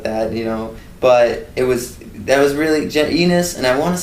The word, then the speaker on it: Ennis: No one ever said anus. Well, it starts with an E.